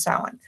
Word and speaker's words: Samhain: Samhain is the Gaelic. The Gaelic has that way of changing um, the H and the W sound.